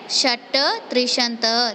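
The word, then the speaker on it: षट्त्रिंशत्: षट त्रिशंत, इसको प्रनाउंस किया जाता है षट त्रिशंत दैट मीन्स 36।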